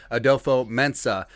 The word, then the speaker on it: Adofo-Mensah: With the Minnesota Vikings hiring new general manager Kwesi, got the pronunciation right, Adofo-Mensah, the path to the Vikings trading quarterback Kirk Cousins to the Cleveland Browns has never been clear.